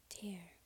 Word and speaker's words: tarot: the word is pronounced ter interestingly in north america the first syllable is emphasized whereas in other regions it's the second syllable jared has touched the